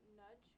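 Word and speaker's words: Nagy: You said that your mother gave you false names, the last name of Nudge, correct? It's spelled N-A-G-Y.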